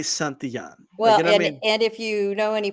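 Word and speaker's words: Santillán: here it says congratulations santian the Double L in Spanish is not pronounced like an L in English that's why people say it that way they say tillan right excuse me and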